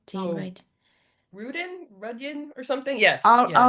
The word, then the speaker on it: Radin: And you've heard of Dean Radin? Dean Radin, is that how you pronounce his name? Dean Oh, Radin. Rudian or something? Yes, yeah. Radin.